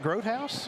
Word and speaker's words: Grothaus: Oh, Grothaus. Okay. Is that how you say it, Grothaus? Yep. Okay.